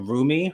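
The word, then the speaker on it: Rumi: Beyonce's two daughters, Blue Ivy, um and and Roomie, her name is spelled R U M I.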